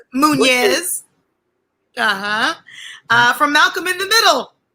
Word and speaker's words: Muniz: Muñez.